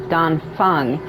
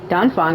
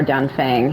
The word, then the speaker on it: Dan Feng: Dan Feng or Dan Fang, however you want to say it, if you don't want to say it with the accent. Like Dan Fang, if you try to say it like a generic way.